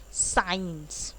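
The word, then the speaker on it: science: कुछ वर्ड्स होंगे जिनमें सी साइलेंट होगा ऑफ कोर्स, जैसे कि साइंस. ओके, स्काईफाई या कोई भी साइंस related word, साइंटिफिक. Okay, तो उसमें हमेशा सी, जो एस के सी बगल में है, वो साइलेंट रहेगा.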